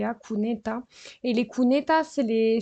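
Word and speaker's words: cuneta: on parle beaucoup en Espagne des kuneta ça s'écrit Cu n e t a kuneta et les kuneta c'est les c'est les bord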